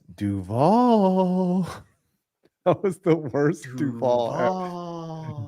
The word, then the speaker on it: Duval: Like he emphasizes the wrong Yes. phrase. It's It's just- Duval, not Yeah. Duval.